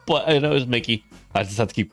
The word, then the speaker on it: Mickey: There's a Disney character, a mouse character named Mikey. No, no, it's not. I kept saying Mikey. Mickey, right? I keep saying Mikey and then Marie sent me the It's like, please look it up.